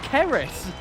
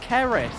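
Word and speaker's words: Ceres: spelt c-r-e-s oh oh c-e-r-e-s oh keris oh i thought you i thought you said c-r-e-s like crest i thought about crest bandicoot oh kerris oh it is less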